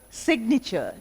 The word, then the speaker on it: signature: But here, signature, the G is pronounced.